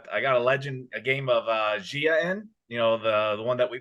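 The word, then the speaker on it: Gaia: I think it's pronounced Zaya, but okay. Zaya, Zaya, Gia.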